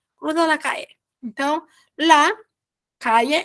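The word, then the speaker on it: calle: gente já viu que quando a gente tem uma palavra que tem LL a gente encora na pronunciação como um então cruza la cai então lá caia é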